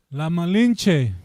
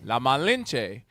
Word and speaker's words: La Malinche: La Malinche. La Malinche.